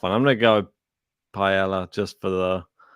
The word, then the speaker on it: paella: I'm going to go Paella just for the... It's not paella. I know it's not. I like calling him that. And that's not how you say it anyway. It's paella. Paella.